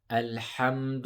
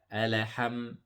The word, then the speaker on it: الحمد: need to make sure the lam is pronounced lightly here, L, and we hold the sukun so we don't bounce it. So we don't say ala, alaham.